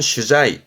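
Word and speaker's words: 取材: 발음은 슈자이 슈자이 그런 어떤 기사거리라든가 그런 소재거리를 찾으러 다니는게 취재가 되겠지요.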